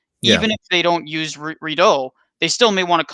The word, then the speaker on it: Redot: as a quick followup I've heard both redo and red do which which what is the proper pronunciation here all of redo it's redo redo okay another add is